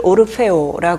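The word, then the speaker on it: Orfeo: 오르페우스의 아내의 이름이 에우리디케 그런데 이제 그 그리스어를 여기서는 그냥 이탈리아어 식으로 읽어서 어 오르페우스를 오르페오 하고요 이탈리아로 그리고 에우리디케를 에우리디체 합니다 발음만 약간 달라졌고 같은 인물이에요 그래서 어이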